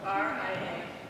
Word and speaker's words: Ria: Spell that for me. R-I-A.